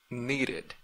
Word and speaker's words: needed: Aquí se pronuncia de, needed. No es como listened, listened. Usted no dice listened, listened, listened, listened. Pero aquí como termina en una D, usted pronuncia la última ED.